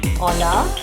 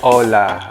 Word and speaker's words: hola: guys in spanish okay the letter h is okay is not sounded or it is silent okay so we have the examples today greeting to say hi or hello hola hola okay till tomorrow hasta